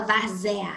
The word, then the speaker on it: várzea: Olha só, na palavra várzea, os EA, ZA, a gente não fala várzea, a gente fala várzea. Então, o E ali vai ter um som de I, representando uma semivogal, e o A vai estar sendo, como ele já é mesmo, uma vogal.